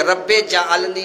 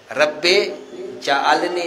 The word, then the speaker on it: رب اجعلنی: غلطی کرتے ہیں، یہ رب اجعلنی نہیں ہے، رب جعلنی نہیں ہے، یہ رب اجعلنی، صحیح تلفظ یہ ہے، صحیح لفظ یہ